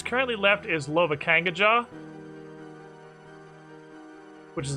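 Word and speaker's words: Lovakengj: it's currently left is lova kangajar is apparently pronounced like novocaine but with an l don't ask me how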